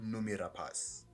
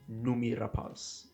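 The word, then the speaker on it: Noomi Rapace: the film yeah oh apparently her name is pronounced numi rapas numi numi rapas okay that's a very nice way to pronounce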